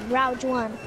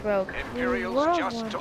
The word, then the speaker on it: Rogue: Star Wars um Rouge one. I don't know how to pronounce it. Rogue One. I don't know how to pronounce it. It's Rogue One. It's not world one.